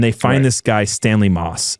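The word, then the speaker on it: Motss: And they find this guy, Stanley Moss. It's spelled Motts, but they pronounce it as Moss. The T is silent, apparently. But Stanley Moss.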